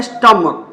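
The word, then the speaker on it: stomach: आप देख सकते हैं स्टमक इसको पढ़ते है स्टमक को पढ़ा जाता है स्टमक एस जोड़ दिए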